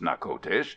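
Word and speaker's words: Natchitoches: from the Spanish French border near Old Nakotes, pronounced Nakotes, on the lower Red River, or in later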